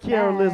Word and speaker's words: Kiaraliz: We got Kiaraliz with us, and I said it right that time.